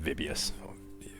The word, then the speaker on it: Vibius: I know it's pronounced Vibius. Yeah, it would have been Vibius.